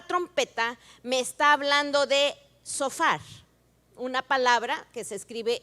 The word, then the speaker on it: shofar: hebrea la palabra trompeta me está hablando de sofar una palabra que se escribe sh o p h a r sofar que era el shofar esto es un sofá ese es un regalo